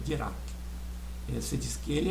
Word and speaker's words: Dirac: Ele era francês, o Dirac, e a pronúncia americana às vezes é Dirac, mas o nome correto é Dirac.